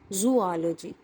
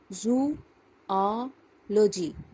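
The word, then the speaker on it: zoology: बहुत गलत इस्तेमाल के बोलते हैं जूलॉजी नो यह वर्ड है जू ऑ लॉजी जवाजी आपको अगर पढ़ने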